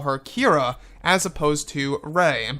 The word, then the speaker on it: Kira: Abrams wanted to call her Kira as opposed to Rey. And by the way, it's spelled K-I-R-A. It's not Kira with a Q, like in Solo: A Star Wars Story. This is a different name.